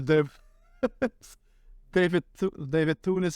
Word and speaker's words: Thewlis: I see the first Wonder Woman, not bad, but there was a moment where David Thewlis as a how do you say it? David Thewlis? Yeah, Thulis.